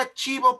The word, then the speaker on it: archivo: cada línea de escritura la palabra archivo por ejemplo su sílaba fuerte no es la última sino es la penúltima es la sílaba chih